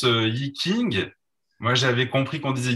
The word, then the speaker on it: Yi Jing: On avait beaucoup l'habitude de prononcer King. Alors tout le monde dit tu fais du Yi King, oui, voilà, le Yi King, le Yi Qing. Et il y a donc une prononciation que je ne sais pas refaire toujours exactement. Donc on s'en tiendra à quelque chose d'intermédiaire entre T, S et K.